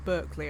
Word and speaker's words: Berkeley: It's called Barkley Pit. We'll pronounce it Berkeley over there.